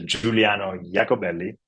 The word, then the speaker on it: Giuliano Iacobelli: dude Richard thank you so my name is Juliano jakobelli and had a prop right and you had